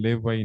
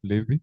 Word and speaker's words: Levi: I'm told in Uganda they call him Levi, not Levi. In Kenya we pronounce it as Levi.